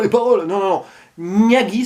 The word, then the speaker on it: Nagui: paroles, non, non, non, Nagui, ça s'écrit avec un G devant, donc on pourrait prononcer ça Niaghi, d'ailleurs, il ne dit